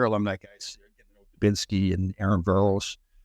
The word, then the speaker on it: Voros: guys, Binsky and Aaron Veros. Is that how you say his name? Voros. He didn't. Right? You actually were close enough.